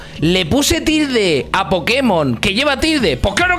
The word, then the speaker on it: Pokémon: peripecias que queráis hacer en ninguno se dice Pokémon y como no podéis pelear por tener razón de que se dice Pokémon ahora decís Pero tú no tienes razón porque